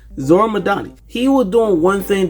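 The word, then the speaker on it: Zohran Mamdani: Zoramadani. Sorry, I did not want to mispronounce his name, so I made sure I'm pronouncing it right. Zoramadani.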